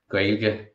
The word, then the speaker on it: Gaeilge: So Gaeilge in most places, but Gaelainn in Corca Dhuibhne.